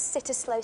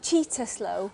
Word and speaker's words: Cittaslow: Oh, is it true that Mould has sitter slow status? It's pronounced cheetah slow.